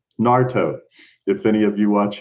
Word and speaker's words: Naruto: It's kind of like Naruto, if any of you watch him. The U is silent. Naruto.